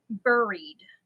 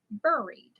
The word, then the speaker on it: buried: up when I say when I say uh Buried buried b u r i e d I say buried she says I say it wrong she laughs at me every time she says it's buried no it's not buried it's